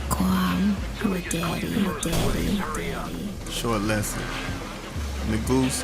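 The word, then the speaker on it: Negus: Nagus or Nagas, as it's pronounced in Western culture, is a title in Ethiopian royalty meaning king or emperor.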